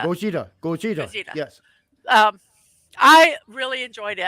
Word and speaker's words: Gojira: And how do you say Godzilla? Gojira. You got it perfectly right there. Gojira.